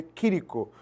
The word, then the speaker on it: Chirico: Professor, aquela obra ali do Quirico, a pronúncia é essa, escreve Chirico, e se lê Quirico, certo?